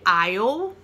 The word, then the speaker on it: aisle: Primeiro que nós temos aqui é aisle. Aisle, não pronuncia o S.